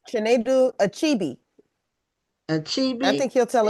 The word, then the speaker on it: Chinedu Achebe: Uh, Chen.